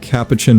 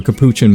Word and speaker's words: capuchin: Over here is what I am calling the South American duo of the anteater and capacin monkey or capuchin monkey depending on how you pronounce it. I usually say capuchin.